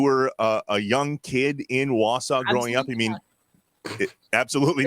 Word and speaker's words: Wausau: It was Wausau, not Wausau.